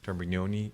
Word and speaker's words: Termignoni: I took Italian. GN. That yeah. explains how you pronounce it. Some of the The Regale. Think gnocchi. GN.